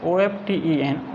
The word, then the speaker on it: often: That is why यही कारण है, वे often अक्सर, often में टी साइलेंट है, OFTEN often अक्सर या प्राय,